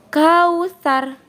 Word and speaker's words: Al-Kautsar: Maka anak-anak membacanya dengan kausar. Kau, bukan kau.